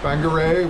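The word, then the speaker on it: Whangarei: out on the coast Banger which is spelled with a wh uh that's a good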